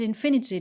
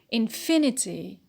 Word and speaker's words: infinity: syllable we stress it infinity infinity stress on fee because of the 80 syllable suffix sorry difficult difficult stress